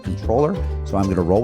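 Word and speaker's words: comptroller: who is our controller which is spelled comproller but I was always told it was pronounced controller.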